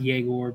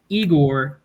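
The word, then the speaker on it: Egor: name pronounced right um I know it's pronounced jagore but eigor uh he's a 69ine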